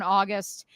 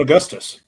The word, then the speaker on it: Augustus: as serious I first introduced LSU assistant Simone August for holding strong I hope I pronounced that right um Simone Augustus yeah Simone Augustus for holding strong despite the